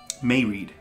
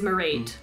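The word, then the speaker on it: Mairéad: mariad no may read no no it's it's a father so may rad marad how many syllables two yeah so it's not pronounced well that's just the way i say d in irish like you kind of do you just soften your d's merid but it is merid yeah we'll do a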